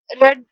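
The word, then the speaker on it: read: रीड, रेड, रेड। इसको हम पढ़ने में तो डिफरेंट होती है लेकिन जब हम इसको लिखते हैं ना तो इसके स्पेलिंग्स तीनों के सेम ही होते हैं।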